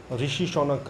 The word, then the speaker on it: Rishi Sunak: तो दोस्तों इस वीडियो में बात हो रही है, आपको पता है ब्रिटेन में ऋषि शौनक, ऋषि शौनक अगर आप करेक्ट प्रोनाउंस करें तो यही होगा, वो शायद यूके के